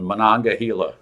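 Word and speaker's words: Monongahela: Necessity and then uh Mononga I'm probably not pronouncing um very well. You got them all but the last one. Mananga, right?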